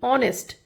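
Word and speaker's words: honest: वी are talking about the ऑनेस्ट। एच इसका silent है। ओ एन ई एस टी। हम pronounce कर रहे हैं क्योंकि ये वोवेल साउंड है।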